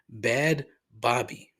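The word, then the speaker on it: Bhad Bhabie: who goes by the professional name bad Bobby but it's spelled b h a d b h a b i e again not for me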